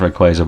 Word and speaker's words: Rayquaza: I know it's pronounced Rayquaza, by the way, but if you come for me, I will find you and I'll strangle you to death.